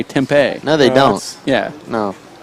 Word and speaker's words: Tempe: You're watching the World Intercollegiate Handball Championships at Tempe, Arizona. How do you say it? I say Tempe.